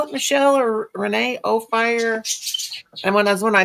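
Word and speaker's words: Ophir: O fire. And when I when I type it in, it don't come up. So Oh, fire. Yeah, they say o fire.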